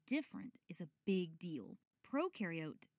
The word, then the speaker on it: prokaryote: Prokaryote, the pro rhymes with no, and they have no nucleus, which holds the genetic material and controls a cell's activities.